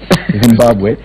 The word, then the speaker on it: Zimbabwe: troubles pronouncing the name Zimbabwe, because I know, yeah, with the M and B together, quite a number of Kenyans cannot pronounce that.